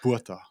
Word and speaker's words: Botha: What about the surname? Botha. Butter. Buerta. Buerta. Yes, it's like Bua. Boyka. Buerta. Buerta. That was good. Boyka. Buerta.